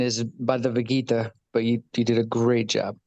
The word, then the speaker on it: Bhagavad Gita: The pronunciation is Bhagavad Gita, but you did a great job.